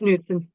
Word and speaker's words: Knudsen: And you know, I wrote a letter just to, you know, welcome Mayor Knudsen, or Knudsen. I don't know how to pronounce her last name. Forgive me, but It's Newton.